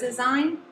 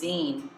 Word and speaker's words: zine: gonna make a zine what is design actually it's pronounced zine a zine is a